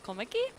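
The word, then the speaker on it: Kommetjie: the screen uh so it's Afrikaans for a small Basin approximately pronounced komiki is a small town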